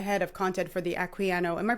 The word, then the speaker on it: Equiano: We're gonna wrap up soon, but I want to know, because you are the head of content for the Equiano. Am I pronouncing that right?